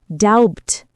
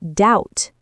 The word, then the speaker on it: doubt: The B in doubt is silent. We don't say doubt. We say doubt.